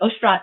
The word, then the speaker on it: Oshrat: It's hard to say my name correctly if you're not a native Hebrew speaker, but Oshrat is close enough.